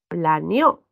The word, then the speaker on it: planeó: Yo puedo decir planeó. Y al decir planeó, el acento ha cambiado. Fíjense, plané, ahí está la sílaba tónica. Y en el otro caso, está en la última.